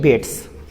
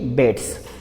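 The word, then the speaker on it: Bates: बेट्स। H.E. बेट्स बीट्स भी पढ़ सकते हैं मगर बेट्स पढ़िए उच्चारण, ठीक है?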